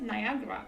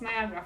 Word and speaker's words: Niagara: one place and and I was very confused that she said Niagara uh this is how I learned that it's Niagara Falls and not Niagara and in Poland in Polish it's Niagra Fall only one fall I think